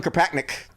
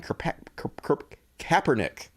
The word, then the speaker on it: Kaepernick: in mind folks colin karpatnik please pronounce his name kaepernick i can never pronounce this guy's name he needs to pick